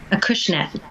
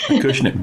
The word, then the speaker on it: Acushnet: And Collective Souls is at 59 Main Street, in a town in Massachusetts that I can't pronounce. Acushnet. Acushnet, bless you.